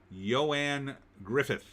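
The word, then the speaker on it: Ioan Gruffudd: The name Eoin Gruffeld is pronounced Ioan Griffith.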